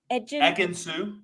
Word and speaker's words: Ekin-Su: And then, I'm sorry, how do you pronounce her name? Ekin-Su.